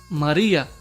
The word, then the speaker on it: María: Por ejemplo, lo apreciamos en la palabra María, así se divide, ma-ri-a. el acento recae en la penúltima sílaba y a pesar de terminar en vocal esta palabra llana, pues lleva tilde.